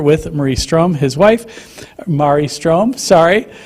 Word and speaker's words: Marie Ström: He's a senior scholar of public work, philosophy, and the co-founder with Marie Ström, his wife, Marie Ström, rhymes with safari.